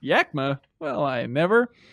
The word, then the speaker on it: Yakima: Christian from Yakima, Washington, pronounced Yakima.